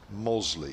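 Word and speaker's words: Mossley: says loving the coverage from mostly in lancashire pronounced mosley sorry by the way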